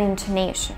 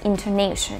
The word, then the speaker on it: intonation: relates to rhythm and intonation. Americans really like to emphasize the stressed syllable and make other syllables very weak. Let's look at the word intonation. We do not say intonation, but we say intonation.